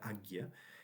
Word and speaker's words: Ajna: vishuddha, el sexto es agya, a j n a se pronuncia agya, el séptimo es sahasrara y el octavo es el bindu.